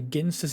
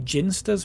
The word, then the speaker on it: Ginsters: Apparently ginsters is pronounced with a hard G and that's simply incorrect.